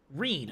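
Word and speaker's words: Ryne: Let's see, we just got the light, working with the Rin to get the light. Zero, was it? To continue. My name is Reen. Reen. Okay, that's how you pronounce it.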